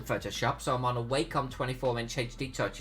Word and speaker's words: Wacom: Apparently, Wacom is pronounced Wacom. The correct pronunciation is Wacom. I think Wacom is a stupid name. It's a stupid pronunciation, so I say Wacom.